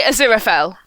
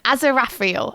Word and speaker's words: Aziraphale: As a dyslexic, I'm like, I say Aziraphale. I say Aziraphale. Aziraphale.